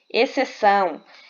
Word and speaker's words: exceção: Exceção. Veja que o XC, nesse caso aqui, ele funciona como dígrafo consonantal. Por quê? Porque o X, ele não é pronunciado.